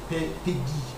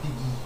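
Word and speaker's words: Péguy: Okay, the pronunciation of that one is Peggy. Charles Peggy.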